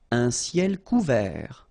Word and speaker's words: couvert: Un ciel couvert, final T not pronounced.